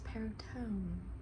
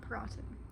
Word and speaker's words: Perrotin: to say it and it's peritone not perotten like I was saying like some American or something but it's leviosana Leviosa